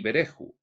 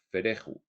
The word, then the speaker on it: Verehoo: Los nombres de los guías son Angenon y Bereju. Pongo una tilde en Bereju porque se me transmitió como ver, que suena como fer, fereju, en la pronunciación anglosajona. E como hei y ju, Berehu. Son los guías de una mujer llamada ¿Quién?